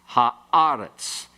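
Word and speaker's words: הָאָרֶץ: And eretz becomes aretz with the he, ha-aretz.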